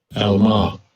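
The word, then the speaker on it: עַלְמָה: So in Hebrews, I believe it's Ilama. Salaka if I'm pronouncing it wrong. But let's get the pronunciation. Strong's H 5959. Alma. Alma.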